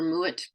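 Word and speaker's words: Mowatt: name was spelled m o a d still pronounced Moet or muet with a Scottish accent but the English didn't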